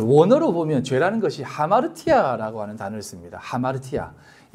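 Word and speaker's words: ἁμαρτία: 요게 뭐냐면 하라고 하는 발음으로 읽으라는 것입니다. 아마르티가 아니고 하마르티아라고 읽으라는 것입니다.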